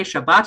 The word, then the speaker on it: Shabbos: This already explains, why is it that some people say Shabbat and some people say Shabbos?